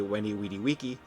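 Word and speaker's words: Veni, Vidi, Vici: His ability Weni Weedy Wiki, as following the classical Latin pronunciation.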